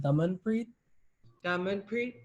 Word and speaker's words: Damanpreet: you say your first name yeah it's um diamond pre okay um so we we want to be